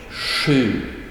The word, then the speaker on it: sju: Sju-ljudet has a more soft pronunciation. Sju, sju, sju. And it's more like blowing out air, and then the tongue comes out forward in your mouth, like in the picture here.